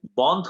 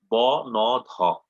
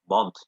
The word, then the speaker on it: বন্ধ: যেমন দেখেন, এই যে কলকাতায় বন্ধ হলো, ব-ন-ধ, বন্ধ।